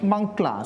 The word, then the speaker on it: mankla: drumming tradition called mankla in their pronunciation they call it mankla so i found out